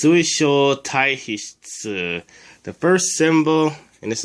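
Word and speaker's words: 水晶体皮質: word to pronounce, but the first symbol is sui. By itself, it's pronounced mizu and means water. But in this word, it's pronounced sui. The second letter is sho. I'm not really sure what it means by itself. Sho. The third letter is tai. By itself, it's pronounced karada. It means body. The fourth letter is this symbol. Not really sure what it means. But in this word, it's pronounced he. And the fifth letter is tsu.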